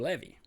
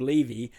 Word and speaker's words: Levy: Actually, it's Levy. I've been saying Levy, but I believe it's Levy is how it's pronounced over in England, so I'll now run with that pronunciation.